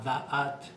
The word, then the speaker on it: Da'at: La letra Da'at se pronuncia en porno fonético con dos A, Da'at.